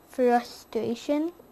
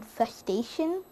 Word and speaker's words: frustration: Frustration was one of them. And my brother thought I was saying fustation. And I would have to explain to him that's not how you say it.